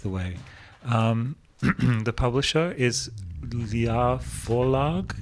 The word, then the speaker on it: Ljå: The publisher is Ljå Forlag. Is that Ljå? But Ljå. Apparently, when I pronounce it, it sounds French. So Ljå.